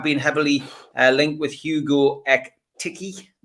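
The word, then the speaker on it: Hugo Ekitiké: heavily uh linked with hugo ek tiki uh which is the right pronunciation but is that is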